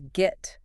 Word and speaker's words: Git: Like get but with a hard g.